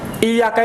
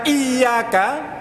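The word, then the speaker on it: إِيَّاكَ: apa-apa salat the Hai kalau membacanya itu adalah iyyaka pakai tas ditekan maka artinya adalah hanya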